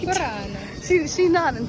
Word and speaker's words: Murano: She said my pronunciation was correct. Murano.